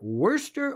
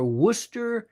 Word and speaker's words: Worcester: It's pronounced either worester or worcor.